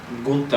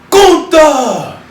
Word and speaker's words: Gunther: For the WWE Intercontinental Championship, you got the defending champion, the ring general, Gunther. Oh, you didn't say it right. Okay, I can't roll it like that.